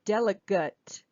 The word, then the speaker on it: delegate: In that case, this A would also be a schwa. Delegate. Delegate. Delegate, to delegate something, or someone is a delegate. Okay, so two different pronunciations depending if it's a verb or a noun.